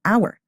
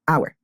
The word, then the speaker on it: hour: your we say an hour we don't say a hour because the H is silent and we pronounce like the o s an hour be very careful and